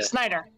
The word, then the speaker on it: Snyder: Why do you say it like that? What do you say, Schneider? Did I say Schneider? You said Schneider. I don't know. Yeah. Snyder. Yeah, it's Snyder.